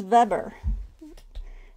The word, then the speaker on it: Weber: this covers Hans Weber. We would pronounce it Weber, but in German it'd be Weber, right?